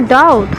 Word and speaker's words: doubt: Okay, तो yes, what is your डाउट? हाँ, तुम्हारा संदेह क्या है? What is your डाउट। यहाँ DOUBT है, बी यहाँ पर साइलेंट रहता है, इसलिए यहाँ पर डाउट ही पढ़ते हैं, डाउट नहीं पढ़ेंगे।